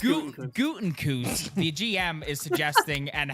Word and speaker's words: Gutekunst: Apparently, what we are going to see from not only what Gutekunst, that was horrible. Yeah, you butchered that. It's Gutekunst, the GM, is suggesting, and Halfley.